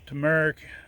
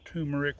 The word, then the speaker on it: turmeric: It is December 6th and we're finally going to start doing some harvesting on our turmeric or turmeric, whichever way you want to pronounce it, and our ginger.